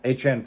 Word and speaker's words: Etienne: This award was voted on by league members, and the winner is Travis Etienne in the 12th round. Etienne finished as the RB9, scoring basically 13 points a game, and yes, that is how you pronounce his last name.